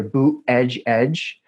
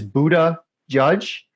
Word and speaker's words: Buttigieg: There seems to be two popular ways of pronouncing his name, either Boot Edge Edge. I prefer the second one, which is Buddha Judge, because I think that